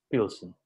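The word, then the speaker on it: Plzeň: Y se escribe P-L-Z-E-N, Pilsen.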